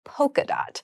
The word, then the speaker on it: polka: another very popular pattern you might notice this Poca has an L in it but we don't pronounce it po we say polka dot so polka dot is